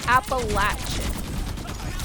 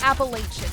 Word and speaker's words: Appalachian: It is Appalachin. It is not Appalachian. If you call them the Appalachian Mountains in North Carolina, you're you might get shot.